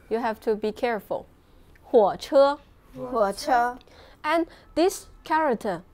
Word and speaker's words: 火车: And this one, how do you pronounce it? 火车火 It's 火车火车火车火车 means truck In the last class, we have learned 货车 it means truck.